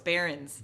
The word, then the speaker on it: Barons: You said. Is it? No, it's Barons. Barons. That's like Barons.